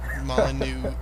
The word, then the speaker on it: Molyneux: I know it doesn't end with the X, but it does. But, it's not pronounced.